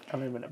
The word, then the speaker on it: aluminum: So aluminum and there is a reason why I gave the North American pronunciation of that because guess what we used to call aluminium. Aluminum.